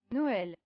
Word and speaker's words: Noël: In French, Christmas is pronounced as Noël. Noël.